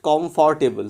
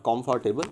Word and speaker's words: comfortable: That people started laughing at me because we are Bengalis. We have the "o" sound. We always add "o" to everything. So I just pronounced it comfortable. So then my teacher rectified me, said, Toma, it's not comfortable, it's comfortable. So it is supposed to be comfortable.